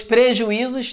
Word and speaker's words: prejuízos: Pois prejuízos trata da regra dos hiatos, preju, e, olha lá, ó, zois. O i sozinho na sílaba se separando de uma vogal anterior.